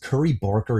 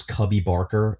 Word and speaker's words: Curry Barker: For Obsession, it was a roller coaster ride that, by the way, I pronounced Curry Barker as Cubby Barker last episode.